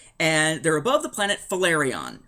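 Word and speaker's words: Phelarion: they're above the planet valerion I believe it's how you pronounce it it's p-h-e-l-a-r-i-o-n valerion yeah that works Star Wars names you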